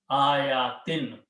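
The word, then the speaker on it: آياتٍ: It is still nasab, but it is pronounced with two kasras. Ayatin.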